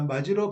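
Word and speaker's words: 맞이: 있습니다 자 볼게요 자 마지로 발음할 때 일어나는 의문 변동에는 좋은 위치만 변환 마지 이렇게 발음이 되잖아요 그러면 디귿이 뭘로 발음된다 지로 발음된다 그러면 좋음 위치 변하고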